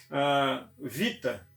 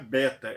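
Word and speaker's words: βήτα: Vita é o B, mas o som não é beta, é vita.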